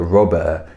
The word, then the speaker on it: Robert: pronounce it like a robber you are right they leave off the t it happened guys for